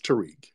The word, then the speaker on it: Tariq: It's Tariq. But go ahead. Okay, I'm sorry I mispronounced your Arab master's name.